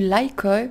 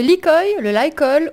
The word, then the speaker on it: Lykoi: Bonjour à tous et toutes, c'est Nessendil sur The Horizon et aujourd'hui on va parler du Lykoi. Je le prononce à l'anglaise.